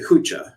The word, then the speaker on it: hucha: Someone was asking, is it kucha or kucha? It's actually hucha with an H.